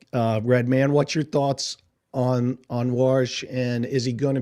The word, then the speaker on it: Warsh: I guess it's pronounced Warsh, W-A-R-S-H.